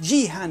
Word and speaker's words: Juhani: I believe it's actually pronounced Jihan, and it's actually a boy's name in Finland and Estonia, don't you know?